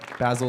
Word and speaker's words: Bassel: So Basil is spelled Bassel.